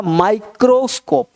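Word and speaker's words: microscope: जैसे यहाँ पे माई है, एम है, तो इसको पढ़ना होगा माइक्रोस्कोप, माइक्रोस्कोप। मिक्रो नहीं पढ़ेंगे लोग, आई को ई पढ़ते हैं तो मिक्रो हो जाएगा, तो मिक्रो नहीं पढ़ना, क्या पढ़ना है माइक्रो, माइक्रोस्कोप, माइक्रोस्कोप।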